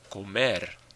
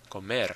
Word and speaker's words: comer: So we have like comer, comer. We don't say comer, comer. The stress is on the syllable ending in the vowel and R.